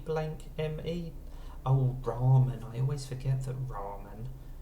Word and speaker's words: ramen: Or you expect it to be pronounced rame if you've got R-A-M-E at the start. But no, it's ramen.